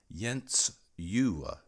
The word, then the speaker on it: Jens Juhl: lived about 90 years Jen's Jewel sailed to many countries and crossed the Atlantic and for the record her name in Danish means Jen's Christmas and is sort of pronounced yents you I learned that months